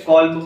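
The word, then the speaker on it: Kolbe: corp था ठीक है कॉप नाम है भी इस पे है ना तो एल इसका साइलेंट है कल्ब बोलो या कॉप बोलो जो आपको उचित लगे तो प्रिपेयर्ड एसिटिक एसिड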